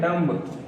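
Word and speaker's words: dumb: अगला वर्ड है डम्ब, लिखे हैं डम्ब लेकिन पढ़ते हैं डम, डम मीन्स क्या होता है, गूंगा।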